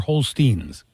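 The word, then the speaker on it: Holsten's: It's spelled Holstens. Is it Holstens or Holsteins? We say Holstein. Okay. Teins, yes. No, it's spelled Tens. Holsteins. Yeah, we call it Holsteins.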